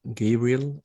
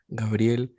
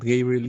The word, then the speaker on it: Gabriel: you can meet randomly my name in english is like gabriel like as movies i've seen but i like usually really like the pronunciation in spanish which is gabriel so even like i usually say my name is not gabriel is gabriel because he's like yes